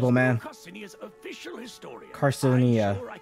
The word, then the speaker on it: Carcinia: Carcinia. That's how you say it.